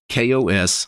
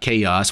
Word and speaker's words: KaOS: look at kos but it's actually supposed to be kos not chaos which i think is